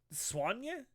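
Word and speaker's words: Soigné: Um I if you pronounce it like I would assume you pronounce it in French. It's swany. It's s o i g n e.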